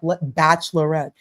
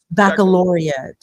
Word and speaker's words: baccalaureate: Bachelorette. And you know what it's actually called, CT? It's correctly pronounced Baccalaureate. Baccalaureate.